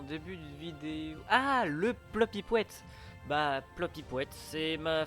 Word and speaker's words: plopyouette: de vidéo ah le plopyouette bah plopy poouette c'est ma façon de dire bonjour en quelque sorte P l o P i p W e t plopyouette question de azril à